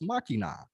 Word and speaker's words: Machina: randy we are watching the legend of vox machina did i pronounce that right machina yeah you said it